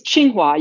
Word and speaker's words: Tsinghua: It's Tsinghua. You can think of it as a CH.